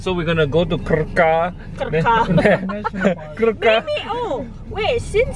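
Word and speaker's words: Krka: We're going to somewhere near Kraka. Kraka National Park? I don't know how to say it. It's K-R-K-A. K-A. Yeah. Yep. And so we're gonna go to Kraka.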